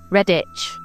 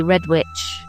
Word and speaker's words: Redditch: Redditch. And I used to say Red Witch. Because that is how it's spelled.